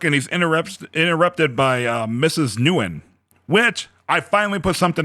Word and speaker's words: Nguyen: It's Nguyen. like Mrs. Nguyen, like Nguyen. Nguyen. Yeah, Nguyen. All The right. G is silent.